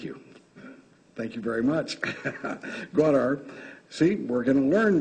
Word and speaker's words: Gwadar: The province's major port, let me pronounce it, Gwadar, thank you. Thank you very much. Gwadar.